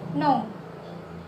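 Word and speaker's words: know: Jadi huruf K di sini pertama yaitu no. Ya. K tidak diucapkan.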